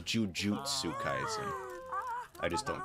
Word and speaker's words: jujutsu: saying it wrong actually i've been saying jiu jitsu kaizen but it's jujutsu i just don't correct